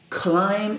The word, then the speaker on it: climb: 43 play watch climb remember this letter B is silence we have already seen three words climb is one and we have what's